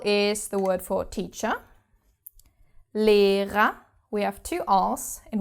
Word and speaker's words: Lehrer: The first R is pronounced because it starts the second syllable. And the second R is not pronounced because it's the last letter of the word. So, Lehrer. And it again just sounds like an A.